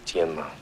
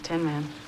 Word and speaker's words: Tianma: The correct pronunciation is Tianma. See how it ended up Tin Man.